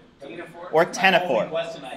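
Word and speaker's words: ctenophore: how do you pronounce it? Tenaphore. Tinaphore?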